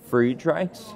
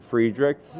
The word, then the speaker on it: Friedreich's: So I think the correct one is probably Friedreich's. Yep. But I think everyone says Friedrich's. Yeah. My family says Friedrich's. They do. Is totally not right.